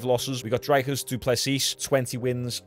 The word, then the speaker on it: Dricus: Dricus, I think it's pronounced Dricus, isn't it? I finally got it right.